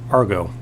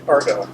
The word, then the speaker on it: Argo: And then realized that the ship was actually named Argo. Yeah. And Argonauts. And it sounds like the word cargo.